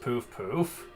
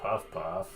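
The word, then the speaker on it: Puff-puff: it feels so good it's pronounced poof poof really I was called it puff puff uh H oh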